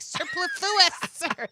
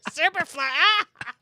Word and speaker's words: superfluous: Superfluous. Superfluous. I'm on Burgundy. Superfluous. I said that right? No, superfluous. Emphasis on the wrong syllable.